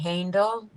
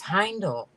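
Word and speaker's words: Haindl: She said that H-A-I is pronounced high, as rhyming in by Awesome.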